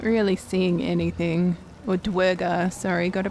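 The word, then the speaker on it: duergar: I wonder if there's any Merchants amongst the dwarger not really seeing anything or dwerger sorry gotta pronounce it correctly all right so that's the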